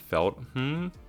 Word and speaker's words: Feltham: So we're gonna have an infill at North Feltham, is how Google told me to pronounce it.